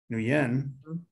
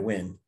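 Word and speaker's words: Nguyen: four hours with you new yen did i pronounce that right right win win yeah i've seen the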